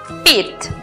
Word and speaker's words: repeat: La siguiente sílaba es una combinación donde encontramos la vocal E con la A juntas en la misma sílaba. Repeat. La pronunciación para la palabra repetir es repeat.